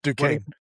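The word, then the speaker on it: Duquesne: I can't pronounce this school. I never have. It's Dukane.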